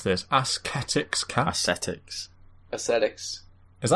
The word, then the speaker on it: ascetics: How do you pronounce this? Ascetics cat?